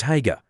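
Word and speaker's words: Haigha: His name is Hager." He pronounced it so as to rhyme with Mayor.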